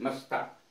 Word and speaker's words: musta: MUSTA, मस्ता।